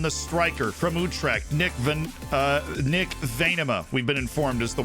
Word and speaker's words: Venema: We brought in the striker from Utrecht, Nick Venema, we've been informed is the way to say his name.